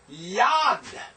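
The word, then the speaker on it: יָד: Yad. You have a yod. You have a comets. You have a dalet. This is hand. Singular, yad.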